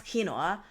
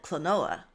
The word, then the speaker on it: quinoa: so uh gerd does not know how to pronounce kinoa so he calls it cloa wait you told me this before yes I